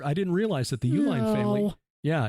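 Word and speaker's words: Uihlein: oh I didn't I didn't realize that the Uline family yeah it's it's not spelled like the company UL i n it's but it is that's how you pronounce their name Uline according to the the stories this group of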